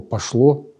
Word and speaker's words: пошло: плану он может слово пошло прочитать совсем наоборот с ударением на слово на первую букву о с ударением на первую букву в слове пошло получается когда все пошло